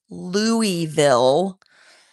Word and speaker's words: Louisville: 10 years ago we were in Louisville. Not planning on leaving, not planning on moving. And for those of you not from the area, I will pronounce it for you clearly. Louisville, for those of you who don't know, that